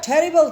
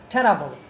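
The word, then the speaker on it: terrible: দেন আ টেরিবল thing happened, টেরাবল উচ্চারণটা হলো টেরাবল, আমরা আসলে লোকাল উচ্চারণ শুনতে করতে এই অবস্থা।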